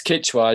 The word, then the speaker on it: Quechua: of uh qichwa you're going to have to pronounce that for me that's correct it's quechua yeah it's from the the ecuadorian parts of